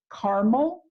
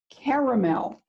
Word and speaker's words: caramel: popcorn in Cracker Jack is it caramel two syllables caramel three syllables and there are parts